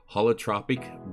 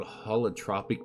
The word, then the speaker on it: Holotropic: Holotropic Breathwork, I believe is what it is.